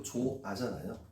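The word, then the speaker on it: 좋아: 조 조하가 아니고 조아잖아요.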